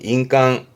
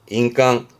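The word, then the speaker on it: 印鑑: 발음은 인깡, 인깡.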